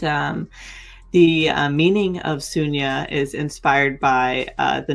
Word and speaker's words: Sunya: the uh meaning of suna is inspired by uh the number zero which is actually pronounced shunya and uh I've always been really interested in zeros in circles.